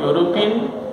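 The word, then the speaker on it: European: जैसे ए यूरोपियन, अब यूरोपियन या का उच्चारण होता है, या जो कॉन्सोनेंट वाली साउंड में आ जाता है, तो ऐसी स्थिति में इसके पहले ए का प्रयोग हुआ।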